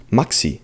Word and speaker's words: Maxi: It's pronounced Maxi in German, because I'm from Germany.